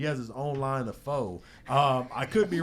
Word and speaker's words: pho: Hey, it's pronounced pho, not foe.